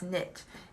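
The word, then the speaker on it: Neith: you could call her her name's actually knit and you pronounce knit and i remember her because it's knitting because she's represented by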